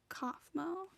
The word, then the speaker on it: Kaufmo: It's pronounced Kaufmo.